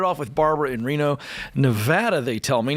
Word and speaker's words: Nevada: I gotta tell you I've said it wrong enough to finally get it right it's Nevada even though I want to say Nevada it's Nevada awesome so the reason